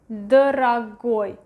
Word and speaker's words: дорогой: And the last one, дорогой, дорогой, дорогой. Again, the stress is going to the last syllable. This one is next to it. Дорогой is pronounced as A, дорогой.